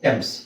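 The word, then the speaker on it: Thames: ಅಂದ್ರೆ ಅಂದ್ರೆ ಏನು ಅರ್ಥ ಟಿಎಚ್ ಎ ನಿಮಗೆ ಟಿ ಆಗುತ್ತೆ ಇಲ್ಲಿ ಎಚ್ ಸೈಲೆಂಟ್ ಆಗುತ್ತೆ. ಇಲ್ಲಿ ಎಚ್ ಸೈಲೆಂಟ್ ಆಗುತ್ತೆ ಎ ಅಕ್ಷರ ಏನಿದೆ ಎಚ್ ಸೈಲೆಂಟ್ ಅಂತ ಹೇಳಲ್ಲ ಅದನ್ನಎ ಏನಿದೆ ಎ ಉಚ್ಚಾರಣೆ ನಿಮಗೆ ಎ ಆಗುತ್ತೆ ಸೋ ಟ ಎಮ್ಸ್ ಟೆಮ್ಸ್ ಟೆಮ್ಸ್ ನದಿ ಆದರೆ ಇದನ್ನ ತುಂಬಾ ಜನ ನಾವು ಥೇಮ್ಸ್ ನದಿ ಅಂತನೆ ಕೇಳಿರ್ತೀರ ಥೇಮ್ಸ್ ನದಿ ಅಂತ ಕೇಳಿದ್ದೀರಾ ಇಂಗ್ಲೆಂಡ್ನಲ್ಲಿ ಇರುವಂತ ಹಿಸ್ಟರಿಲ್ಲಿ ಹಿಸ್ಟರಿ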